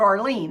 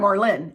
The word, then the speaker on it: Arlynn: My brother-in-law's name is similar pronunciation to yours, but spelled Arlene, A-R-L-E-N-E. He hates it because no one can pronounce it. I hear ya. I'm not Arlene. I'm not Arlen. I'm Arlyn, A-R-L-Y-N-N.